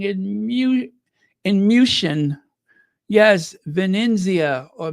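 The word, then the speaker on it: Venezia: mu in musan yes Venia or musan I'm going to say it like they do in the native countries uh Venia and musan but yeah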